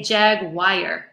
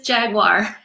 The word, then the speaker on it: jaguar: ever you didn't often I hear people say jagwire Jaguar is just not the word at all got it so thank you for pronouncing it correctly it is Jaguar not bad wire okay you're trying to invent